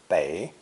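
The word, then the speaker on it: 北: people back to back pronounced third tone bay bay in some expressions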